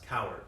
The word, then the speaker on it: Cowart: my last name is co W like a cow and then a RT like art class coward is how you say it so it's just